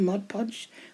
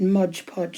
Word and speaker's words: Mod Podge: put my mud Podge this is called Mod Podge I'm sure it is because I sometimes call it modge podge and it's not that's not the correct correct way to say it so I was just